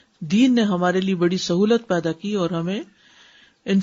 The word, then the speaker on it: سہو: سب لوگ اپنا تلفظ بھی درست کر لیں. سہو جیسے لغو، ٹھیک ہے، کرب، نفس، سہو.